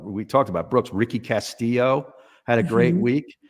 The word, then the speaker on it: Castillo: Brooks, Ricky Castillo had a great week. They say it Castillo, but it looks like Castillo, the way it's spelled.